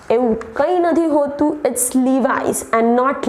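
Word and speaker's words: Levi's: ઇટ્સ લીવાઇસ એન્ડ નોટ લેવિસ. Just repeat after me, લીવાઇસ.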